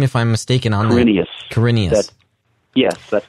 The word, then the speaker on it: Quirinius: Quirinius.